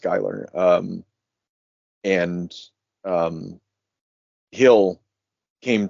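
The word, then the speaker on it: Giler: itself to like because Giller Gyer sorry apparently it's pronounced gerer um and um Hill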